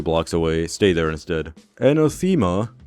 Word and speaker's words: Anathema: Anathema? Actually, it's pronounced anathema.